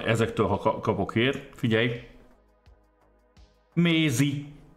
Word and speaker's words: Mézi: Mézi, M-E-Z-I, az ugye az angol Maisie, tehát Maisie névnek a kiejtett változata, mert ugye természetesen Magyarországon